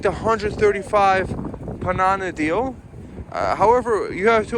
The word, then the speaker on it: Panana: They have all funny names, but the Panana is really cool. It's like rhymes with banana and really easy to remember.